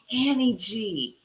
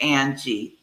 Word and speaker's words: Ann G: Because how do you call me Annie G? So we figured to drop the E on the next project would help that. And it did. So they didn't continue to mispronounce Ann by calling me Annie G. So I kept it Ann G from then on, ANN.